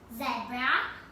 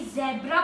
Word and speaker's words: zebra: तो आपने अभी ज़ेब्रा बोला, वो रॉन्ग प्रोनाउंसिएशन, आपको बोलना है ज़ीब्रा।